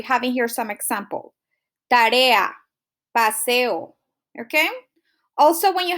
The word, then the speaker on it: tarea: So just remember, when you have 2 strong vowels, you separate it into different syllables. We have tarea, we have paseo.